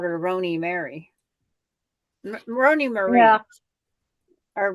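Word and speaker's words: Roni Mari: they always called her roony Mary Roney Marie or roony Mary because there's no e but I chose to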